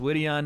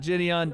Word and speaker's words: Jidion: time he got knocked out it's called It's pronounced wittian not Gideon thank you d-man Lewis Mark humble with the